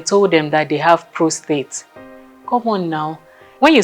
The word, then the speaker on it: prostate: It's called prostate. Okay, can we take it again? Prostate. It's not prostrate or whatever thing you might have been calling it before now.